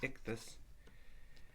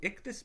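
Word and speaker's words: ΙΧΘΥΣ: And the word IXTHUS, you can kind of pronounce it like this, IXTHUS.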